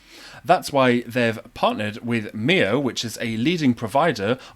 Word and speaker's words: Mio: platforms powered by Mio I think this is pronounced Mio m-i-o so if your organization uses is a